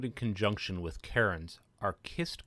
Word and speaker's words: cist: Often found in conjunction with cairns are Cist Graves or Cist Graves, spelled C-I-S-T. I've heard it pronounced both ways, but I'll use the hard C pronunciation in this video. A kist, which shares its same